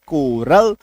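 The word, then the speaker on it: coral: जब किसी शब्द में CH के बाद ओ आर आ जाए means CH + OR = to also क इक्व टू आल्सो क तो जैसे CH ओ R coarse C H plus O आर सी एच ओ आर एल कोरल CH + ओ आर ई ओ जी आर ए पी एच Y choreography C H choreography C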